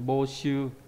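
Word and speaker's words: 募集: Đọc là bô đúng không? Trong từ bô shu là tuyển mộ đúng không?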